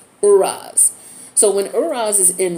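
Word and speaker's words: Uruz: The pronunciation looks like OO-RAZ. Uraz.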